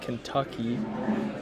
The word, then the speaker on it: Kentucky: Kentucky comes out very nice. Those are like just sounds that are easy for me to pronounce. It's Kent, and then Ucky, Kentucky.